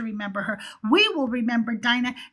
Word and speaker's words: Dinah: but I know that in Hebrew it's pronounced Dinah. I said Dinah because I was tying in the DC character and they pronounce her name Dinah.